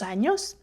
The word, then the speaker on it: años: And also, this could be a new letter for you, and it is called ñ. And it's pronounced ñ. Años. Tengo 38 años, for example.